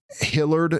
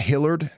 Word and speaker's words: Hilliard: It's pronounced Hillard, not Hillard. What? Oh, is it Hilliard? Am I supposed to be saying Hilliard?